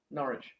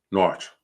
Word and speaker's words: Norwich: Norwich. Norwich. I guess that's how you pronounce. Porridge. Not quite.